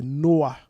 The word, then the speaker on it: Noah: Et il va nous dire un petit peu comment on le prononce. Voilà. Il dit c'est Noah.